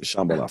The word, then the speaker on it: Shambhala: Shambhala, the Shambhala Festival.